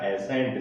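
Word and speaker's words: ascent: एसेंट, एसेंट में भी देखें तो यहाँ पर कॉम्बिनेशन क्या बन रहा है, एस सी का कॉम्बिनेशन बन रहा है, और एस सी के बाद कौन सा लेटर आ रहा है, ई लेटर आ रहा है, इसलिए इसका प्रोनाउंसिएशन क्या हो जाएगा, एसेंट। सी को क्या कर दिया गया है, साइलेंट रहा यहाँ पर।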